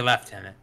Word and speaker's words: lieutenant: british were a mistake we say lieutenant the british say lieutenant yeah there's no f anywhere in that word yeah don't blame